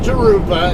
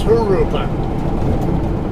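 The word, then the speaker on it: Jurupa: down to harufa avenue not jeruba it's haruka a lot of you guys don't know how to pronounce g's and uh for words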